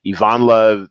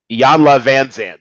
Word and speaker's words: Iyanla Vanzant: you thought he's OK I can ever say her name Ivana the iyanla Vanzant there we go like a souped up